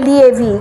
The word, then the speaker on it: leave: এটা কি LIVE না LEAVE, কোন ওয়ার্ডটা ইউজ করছেন স্পিকার। সে দ্বন্দ্বে পড়ে যাবে, কনফিউজড হবে। সুতরাং আমাকে প্রোনাউন্সিয়েশনটা ঠিক করতেই হবে, LEAVEটা হবে লং ই।